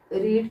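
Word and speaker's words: read: यहाँ पे रीड का जब आप थर्ड फॉर्म लिखोगे तो यहाँ पे इसको रेड बोलोगे, लेकिन स्पेलिंग जो होती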